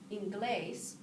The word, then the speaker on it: inglés: When I look at this word, inglés, I see the stress mark, the accent mark above the E, and I know that's the part of the word that I'm going to stress.